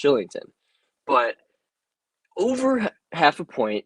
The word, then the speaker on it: Kylington: a point uh oliver kylington i don't know if they're it's shillington i believe it's actually pronounced shillington but over half a